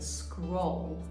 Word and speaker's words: scroll: in Violin terminology the scroll that sounds a little bit like the word squirrel but instead it's scroll with an O and that's spelled s-c-r-o-l-l